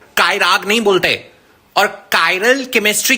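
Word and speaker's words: chiral: चिराल। अरे इडियट इसको चिराल नहीं पढ़ते हैं। कायरल molecules कायरल।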